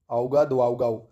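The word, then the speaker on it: Ouagadougou: हम देख रहे हो इसका कैसा है, दुआउगाऊ, औगा दुआउगाऊ, ठीक है। बुकरीना फासो, औगा दुआउगाऊ, स्पेलिंग नहीं भी याद रखो ऑप्शन में मिल जाएगा, औगा दुआउगाऊ, औगा दुआउगाऊ, ठीक है।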